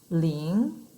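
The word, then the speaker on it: 零: numbers so if you remember number zero we pronounce ling this is number zero i'll put it down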